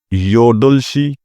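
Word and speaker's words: 여덟: आगे है इल्गुपशी 7:00 बजे योदुलशी आठ अब यहां पर है योदल इसको आपने बी यहां पर साइलेंट है इसको आपने पढ़ना है योदुल रल की आवाज देगा योदलशी 8:00 बजे आहुबशी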